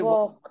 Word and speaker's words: walk: हाउ टू वॉक, ये वॉक है नहीं है ना? वॉक, एल is silent, L is silent, L को बोलना नहीं है, वॉक।